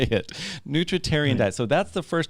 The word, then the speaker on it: nutritarian: what is the name this how do you pronounce the name of your the specific diet that you kind of follow a nutritarian diet nutr and this is the first time